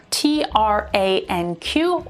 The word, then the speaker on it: tranq: sync q a j a q or kayak t-r-a-n-q or tranq u-m-i-a-q or yumiac q-u-l-l-i-q or colic